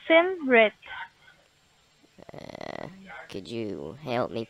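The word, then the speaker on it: Simrit: jennifer you said your name's sandra no it's sim bret could you help me pronounce that should i yeah should i spell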